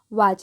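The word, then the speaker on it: watch: क्या पढ़ रहे हैं वाच देखिए टी जो है साइलेंट है यहां पर ठीक है यहां पर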